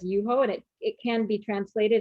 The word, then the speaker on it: Yuho: too seriously and so the actual kanji on the bottle is pronounced as red as yuho and it can be